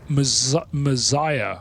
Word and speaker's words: Messiah: He said Messiah. Messiah. Messiah. Like the Messiah.